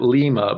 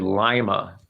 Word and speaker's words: Lima: soccer in the bathtub but for Lima everyone pronounces it Lima but it's actually Lima oh that makes it yeah because uh uh